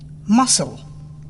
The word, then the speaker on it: muscle: C is not pronounced in the ending SCLE. muscle, Silent D.